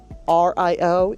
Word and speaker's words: Rio: Also, here's your quick pronunciation portion for insider tips, because I want you to be prepared. R-I-O. R-I-O is Rio Road here in Charlottesville.